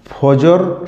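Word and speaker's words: فجر: হয় সেজন্যই মনে হয় এর নাম ফাজর রাখা হয়েছে যাকে আমরা বাংলা উচ্চারণে ফজর বলছি আসলে এই উষাকাল অন্ধকার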